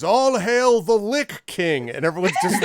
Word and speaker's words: lich: about the pronunciation of Lich okay and apparently like it should actually be pronounced lick in English lick yeah I guess